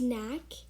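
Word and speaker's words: knack: word we have is nak um so the first letter the first k is silent but the second k is not silent so you pronounce it as n-a-c-k the ninth word we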